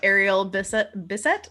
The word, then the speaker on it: Ariel Bissett: Oh, and Kendall's asking, is the YouTuber I was talking about Ariel Bissett?